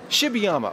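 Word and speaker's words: Shibayama: Now, how do you pronounce it? Shibiyama. Shibiyama. Okay, that's how we'll go with your pronunciation.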